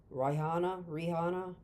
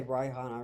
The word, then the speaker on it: Rihanna: Rihanna. I'm gonna say Rihanna because it's an R-I.